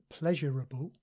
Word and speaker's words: pleasurable: pleasurable. And sometimes people say these two words with 4 syllables, comparable and pleasurable, but the more standard and common form is just 3 syllables.